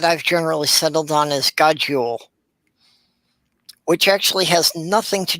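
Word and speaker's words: God jul: is good Ule but the way they pronounce it it sounds like there's only one o you know even as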